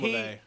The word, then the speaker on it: LaVey: LaVey. I knew I was saying it wrong when I said it. I was like... His name probably was Levy, but since he's a Satanist. No, it's Anton LaVey.